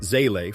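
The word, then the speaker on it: Seele: Seelie, pronounced Zele for friends, used them as their sacred guide.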